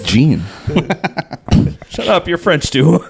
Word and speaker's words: Jean: Oh, Jean would be JEAN. Jean? Yeah, Jean. Just say Gene.